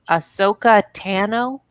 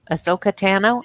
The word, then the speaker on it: Ahsoka Tano: Ahsoka Tano? Ahsoka Tano?